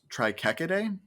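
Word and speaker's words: Trichechidae: like i said sometimes it makes the ch sound sometimes it makes a k sound in in like these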